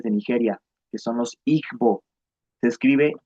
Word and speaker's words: Igbo: Sin embargo, igo, en igonante que no tenemos nosotros disponible, es una especie de nasalización, se pronunciaría como una suerte de i o, o sea, es es distinto.